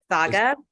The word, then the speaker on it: Saga: um uh you mentioned is that how I'm pronouncing it by the way Saga yeah yeah so um you started off initially